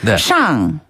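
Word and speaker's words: 上: 위 아래 할 때 위는 윗 상자를 써 가지고 샹 샹 샹 샹 아래는 아래 하자를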